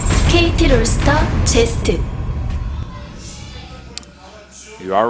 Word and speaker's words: Zest: And his opponent, whose name rhymes with crest. KT 롤스터 제스트.